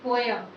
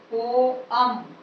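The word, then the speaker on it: poem: Next word है पोएम, पोयम, सभी लोग बोलते हैं पोयम, इट is wrong. Correct pronunciation है इसका पोएम, पोअम, पोअम। तो यहाँ पोअम इस तरह से बोला जाएगा, पोअम, पोअम, ठीक है। तो यहाँ पोयम नहीं होता है, सही प्रोनाउंसिएशन होता है पोअम, पोअम।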